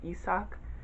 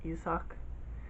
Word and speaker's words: Isak: except with sun john isak i feel like that's how you pronounce his name because i can read hangul and the way that it's spelled in the book makes me think it's pronounced yusak um it's good but